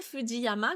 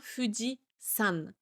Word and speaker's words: Fujisan: Ce qui est vrai hein, le candy de la montagne se prononce Yama et quand il est collé à un nom de montagne comme le Foody et bien c'est sa deuxième lecture sa lecture on qui entre en jeu et donc il se prononce san. Donc Fudi avec le candi de la montagne, ça n'est pas Fudi Yama, c'est bien Fudian.